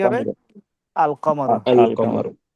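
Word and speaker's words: القمر: কামার আল কমারু। আল আল কমর কামার। এই যে এখানে আলিফ লামটা আবার উচ্চারণ হবে।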